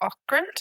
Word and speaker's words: Ockrent: And then also the director, Mike Ockrent, isn't that how you say it?